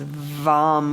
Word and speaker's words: Vam: And the one syllable Sanskrit mantra is Vam with a V. Vam, vam.